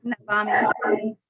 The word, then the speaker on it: Navami: Navami. Yeah, I get it mixed up sometimes. We pronounce it Yeah. Navami, like you said.